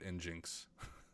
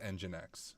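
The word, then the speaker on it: nginx: we can run inin as rout though or engine X I'm probably driving you guys crazy when I call it in Jinx I know it's pronounced engine X so once again don't make fun of me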